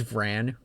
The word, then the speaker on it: Vran: Also, I know it's Van, but I can't bring myself to pronounce it like that yet. I'm too used to saying Von.